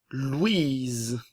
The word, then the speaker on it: Louise: Jeanne, Louise, le O et le U, le son OU, le E final ne se prononce pas.